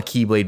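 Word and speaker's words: χ-blade: when it's spelled out, it is spelled X-BLADE. And this is called a Keyblade because in the Greek alphabet, the letter X is called key, or Kai.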